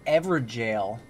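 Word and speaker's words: Evergaol: Oh, it's actually pronounced Everjail. Is the old way to spell jail.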